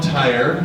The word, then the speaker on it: Tyer: So, so I'm Tyer and if you're looking at how my name set up, it's just pronounced like the tire on your car.